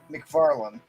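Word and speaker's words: McFarlane: Well, he himself pronounces it McFarland.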